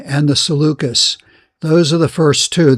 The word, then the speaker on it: Seleucus: it is Ptolemy and Seleucus, like we're selling something.